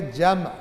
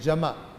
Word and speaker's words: جمع: یہ اصل میں عربی کا لفظ ہے، یہ ہے جمع، میم ساکن ہے. ہم اردو میں کہہ دیتے ہیں جمع، جمع کرنا، کیونکہ میم ساکن بولے تو ذرا تلفظ مشکل ہو جاتا ہے.